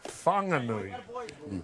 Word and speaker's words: Whanganui: broadcast uh um Doug the city of Wanganui is spelled with a wh so normally that would be pronounced fangui. However, the local Mai people of Wanganui and the Wanganui River Awa uh their dialect does not pronounce H's language.